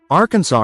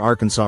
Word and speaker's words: Arkansas: In that silent s lies a legacy of culture, colonization, and compromise.